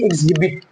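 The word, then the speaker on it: exhibit: ऐसे ही एग्जिबिट है ना, बहुत सारे लोग एग्जिबिट हिबिट बोलते हैं, नहीं, यहाँ एच की ध्वनि नहीं आएगी बाबा, क्योंकि एच की ध्वनि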